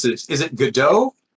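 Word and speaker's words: Godot: There's How do you pronounce this? Is it GDO? G O D O T. Yeah. Yeah, it's GDO.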